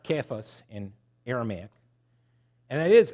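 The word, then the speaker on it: Cephas: you a nickname I'm going to call you sephus it's actually pronounced keas in Aramaic and it is an Aramaic term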